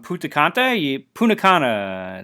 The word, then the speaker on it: Punta Cana: I got home late last night, last night anyway, from Punta Cana, that's how you say it, Dominican Republic.